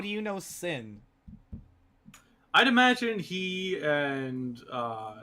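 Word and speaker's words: Syn: the evening it is sin is that how I pronounce it yep s y n sin okay so I have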